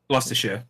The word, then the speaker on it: Gloucestershire: You just you look at it and you think about like how it's spelled, and you just think, okay, how would that be said without any syllables? Like, remove as many syllables as possible from the word. Exactly. And that's how you say it.